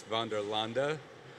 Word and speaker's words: Vanderlande: foreign so to pronounce our company it's Vander Landa I hope that sticks with everybody I've heard a lot of different ways to say it especially coming from the south that's usually Van Der Landy which I much appreciate but in any case